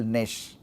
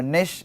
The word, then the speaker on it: niche: the germline stem cell Nish ni I CH E so Nish is one pronunciation this need not be the only correct pronunciation different people say it in very different ways so and all of them are accepted okay uh similarly apoptosis apotosis